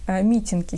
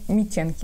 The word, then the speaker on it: митенки: Я почему-то сразу представила из этой нити митинки себе на осень или митенки, вообще-то правильно говорить.